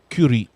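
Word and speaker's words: курить: believe the word is curate for smoke. That smoke for Russian is curate. So nobody wants none of that. Anyway, all right, yeah, but you got to pronounce it the Russian way, kurit.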